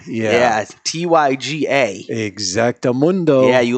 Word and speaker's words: Tyga: No, because that's how we would pronounce it without the R. Yeah, Tyga.